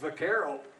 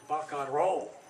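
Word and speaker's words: vaquero: Spanish pronunciation is not vaccaro the Spanish pronunciation is ba control port buckaroo so the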